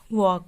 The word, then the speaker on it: walk: वॉक, वॉक means होता है टहलना, WALK, यहाँ पे L साइलेंट है इसलिए इसको वॉक बोला जाता है।